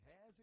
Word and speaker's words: Heirs: Hares is spelled HEIRS. The competition is open to students in JSS 1 to JSS 3 only. Application deadline is July 7, 2024. The Hares Insurance SA Championship is brought to you by